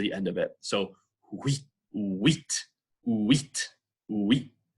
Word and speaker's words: huit: Huit, huile, en Suède. Répétez, huit, huile, Suède. All right, so when the U is followed by any vowel, it becomes that kind of W sound.